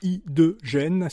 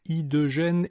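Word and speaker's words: H2Gen: La société s'appelle, en français appelons-la I2Gen, ça s'écrit H-Y, le chiffre 2 et G-E-N.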